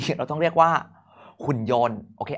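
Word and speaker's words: หุ่นยนต์: ว่า หุ่น ยนต์ โอเค อ่าน ว่า หุ่น ยนต์ สะกด ครับ ห อุ น หุน ห ไม้ เอก หุ่น ยอ โอะ นอ โยน รวม เป็น หุ่น ยนต์ สังเกต นะ ว่า เรา ไม่ พูด ถึง ต เต่า เลย เพราะ มัน เป็น พยัญชนะ ที่ ไม่ ออก เสียง คำ ต่อ ไป ด้าน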